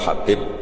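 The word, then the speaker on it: حبيب: Ada yang nulis Abi Abdurrahman Habib Asulami. Itu di harakatnya kitab itu ada yang nulis Hudb yang benar. Oh nggih. Yang benar itu bacanya habib.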